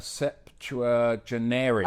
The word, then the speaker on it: septuagenarian: It's called septuagenarians. Oh, yes. Did I pronounce it? A septuagenarian.